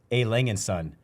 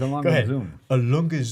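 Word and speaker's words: A. Lange: I'm I'm very impressed with the way you pronounce a langan son. It's not a slow down now. It's a longun.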